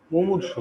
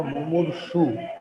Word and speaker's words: মুমূর্ষু: মুমূর্ষু, হ্যাঁ, মুমূর্ষু কথাটা একটু খেয়াল করবা। মুমূর্ষু, এটা কিন্তু মুমূর্ষ না, মুমূর্ষু ব্যক্তিটির, ঠিক আছে,